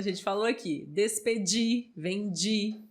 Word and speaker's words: vendi: falou aqui desse pedir vende Perdi né sempre com esse sonzinho aí do Didi exatamente muito bem pessoal